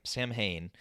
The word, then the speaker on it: Samhain: um roots um but it's spelled s-a-m-h-a-i-n it's it's spelled sam samhain uh but uh it's pronounced samhain and so